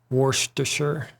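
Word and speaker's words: Worcester: Shy sauce is pronounced Worster.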